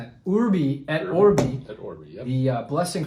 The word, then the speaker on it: Urbi et Orbi: Our topic for today is Urbi et, am I pronouncing that? Urbi et Orbi.